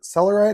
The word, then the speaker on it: Selarlyt: The I recently purchased online and these are from Sealer Celeride I think is how it's pronounced.